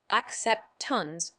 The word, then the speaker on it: acceptance: noun it's pronounced as accept tons with the stress on the second syllable meaning acceptance has several